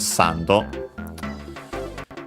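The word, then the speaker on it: サンド: and in all cases it's uh accent on the first syllable as expected sando.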